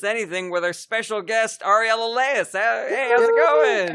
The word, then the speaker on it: Ariel: been saying it wrong i think ariel is usually uh for male because it's short for ahri or it's like that's the extent did i mispronounce your first and last name so you didn't pronounce my mispronounced my first name because everybody says it different that's totally fine i usually say ariel but that's just i